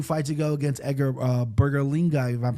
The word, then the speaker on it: Berlanga: You looked at his 2 fights ago against Edgar Berlanga, if I'm pronouncing his name right. Berlanga, yep.